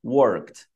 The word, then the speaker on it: worked: Sempre cuidado com essa terminação ED. É um típico erro, assim, bem brasileiro, fazer essa pronúncia muito forte. Então, por exemplo, a palavra trabalhei, worked, não worked, worked, isso não, worked.